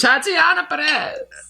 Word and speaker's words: Tatiana Perez: Please welcome to the stage, Tatiana Perez.